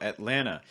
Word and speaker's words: Atlanta: previous video before but this is a held t sound or a stop t sound you're basically tightening your throat a little bit and then not releasing your breath until you get to that land so instead of